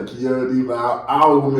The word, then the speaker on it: Keonna: They be calling me KEONNA. Okay. KEONNA, but it's KEONNA. Yes, it's KEONNA.